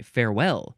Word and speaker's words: farewell: I thought this okay farewell you emphasize the second syllable it is a verb